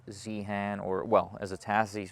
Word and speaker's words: Zeehan: This is in Zeehan, which I'm not supposed to pronounce Zeehan. I'm supposed to, what am I supposed to? Zeehan? Zeehan. That's a Tasmanian way to say it.